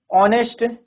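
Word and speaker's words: honest: जैसे हम बोले ठीक है हमने कोई वर्ड बोला ऑनेस्ट ठीक है और ऑनर आर तो इसमें क्या है हमारा एच साइलेंट है ओ से साउंड जनरेट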